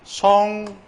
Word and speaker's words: 송별연: 다음에 얘는 송별연 바로 연음하는 게 표준 발음이라는 거 알아두셔야 돼요.